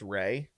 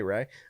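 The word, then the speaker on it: Rhea: Uh to confirm it is pronounced Ray by the way. So shout out. We learn something new every day. Ray. Um Ray Seahhorn.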